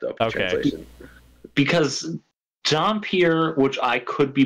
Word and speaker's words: Dhampir: Anyway, so the story is the Marcus brothers and D, who are not working together because D is a half vampire, a Dhampir, who they also call a Dunpeel, which I in have like never the English heard version, they that phrase.